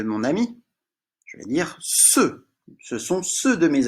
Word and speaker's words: ceux: Ceux. E-U. Et puis un X qu'on voit souvent, qui ne chante pas, mais qu'on voit souvent pour parler de plusieurs objets. Ceux.